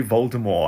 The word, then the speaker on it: Voldemort: did you know that Voldemort is pronounced without a te you're supposed to say Voldemort I think I'm the